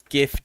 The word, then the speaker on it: GIF: GIF is said with a J sound like the creator intended.